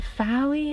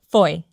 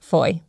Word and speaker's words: Fowey: me at yesterday fairy although I know that's not how you say it FY I can't remember how the man told me it yesterday Foy it's pronounced Foy and Pao so we're